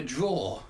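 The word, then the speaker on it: drawer: And think of the word a draw, which you pull, and you actually pronounce that the same as the verb draw.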